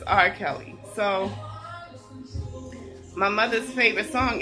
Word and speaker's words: R. Kelly: His name is Art Kelly." And she pronounced his name Art Kelly, as in art. And then she later realized it was R. Kelly.